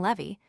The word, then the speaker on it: Levy: The American Jews differ further from the English in pronouncing Levy to make the first syllable rhyme with T.